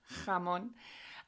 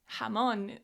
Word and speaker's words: jamón: So, when I was first learning Spanish, I really struggled with this "ha" sound as in "jamón". And it's a sound that doesn't exist in English.